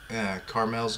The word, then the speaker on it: Carmel: I also kind of had a theory that Carmel's going, and it is Carmel.